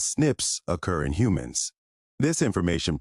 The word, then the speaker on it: SNPs: snps single nucleotide polymorphism pronounced as Snips occur in humans this